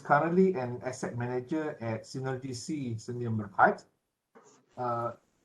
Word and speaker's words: Cenergi: So he's currently an asset manager at Cenergi Sdn. Uh, did I pronounce that correct? Cenergi, yeah? Okay, Yeah, Synergy, yes. Cenergi. Okay.